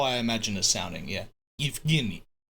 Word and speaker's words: Yevgeny: G as in ghetto. Yevgeny. Yevgeny. Don't make it nasal. Yevgeny. Yevgeny. Yevgeny. That's how you say it, lol. You are pronouncing it way too Italian-y. Yevgeny.